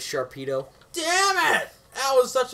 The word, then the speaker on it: Sharpedo: out of it yeah sharkpedo is that his name no yeah his name is Sharpedo damn it that was